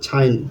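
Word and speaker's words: sign: এখানে জিটা সাইলেন্ট হয়ে গেছে। তারপর আছে হচ্ছে সাইন।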